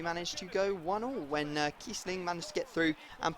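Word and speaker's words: Kießling: It's got Kiesling or Kiebling, as many people go absolutely mad if I pronounce his name Kiebling.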